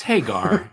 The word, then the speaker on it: Hagar: uh let's see what hagger Hager how do you say his name it's Hagar it's Hagar you know it's